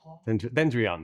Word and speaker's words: Dendreon: Did I say it right, Dendreon? Sorry, Dendra. Dendrion Dendrion, that's the way.